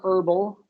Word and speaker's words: herbal: back okay sorry uh the H here is silent herb herbal oh okay herbal okay